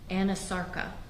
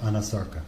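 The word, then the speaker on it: anasarca: a condition known as Anasarka? If I'm not mispronouncing it. No, you're pronouncing correctly. She did have a condition called Anasarka.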